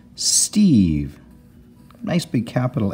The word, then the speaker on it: Steve: magicky at the end it makes this e say its name and we've got Eve St Eve Steve here's a common